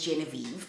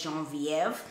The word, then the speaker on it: Genevieve: is actually known as genevieve but it's actually pronounced as jean-viv and uh it follows